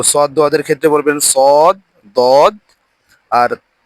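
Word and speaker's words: صاد: সয়াদ বলি এটা আসলে শুদ্ধ না শুদ্ধ হচ্ছে সদ দারা সদ দদ পড়ে অভ্যস্ত আমরা এই সদ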